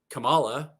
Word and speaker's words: Kamala: us can really figure out how to say Kamala or Kamala or Kamala.